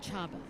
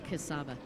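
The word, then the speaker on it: Csaba: I think the real way to say that is Chaba. Chaba Suli? Chaba Suli. I keep saying Kasaba. Fortunately, he's letting me get away with it, but I do believe the correct pronunciation is Chaba Suli.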